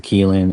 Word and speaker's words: Qilin: Actually, in yeah, in Chinese it's a Qilin. In Japanese it's a Kirin.